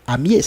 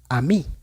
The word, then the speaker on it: amies: pues en este caso también diría se diría como amies, ¿cierto? Pero no va a ser así en francés porque acabamos de ver que en francés la e es sentir al final no se pronuncian. Entonces, si la e es al final sentirde no se lee, esta palabra sería a mí, la misma pronunciación que la palabra anterior.